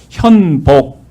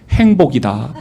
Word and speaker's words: 현복: 그래서 현복 이렇게 지어 주셨는데 우리 땅 끝에서는 아무도이 니은자 발음을 제대로 못 해요. 그러니까 항상 이름이 현복이 아니라 뭐라고 나올까요? 행복이라고 나와요. 니은자 발음도 못 하지만 여발음도 잘 못 해요.